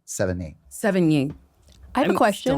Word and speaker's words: Sevigny: But I think it's the number 7 and knee. Sevigny.